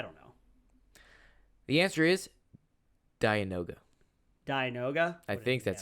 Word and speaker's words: Dianoga: The answer is Dianoga. Dianoga? I think that's how you pronounce it. Okay. D-I-A. Almost like Dionysus, the god of wine and partying.